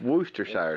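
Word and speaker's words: Worcestershire: you say thater wer growing up it was always worshire in Kentuck in Kentucky it'd be Worchester sh sauce but it's wer Shire sauce I mean SJ walks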